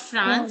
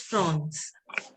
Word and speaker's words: France: Not France, it is France. France. France. Bhuvneshwari, can you pronounce j'habite en France? J'habite en France. It is France, not A-N. F-R-A-N. A-N will be pronounced as on.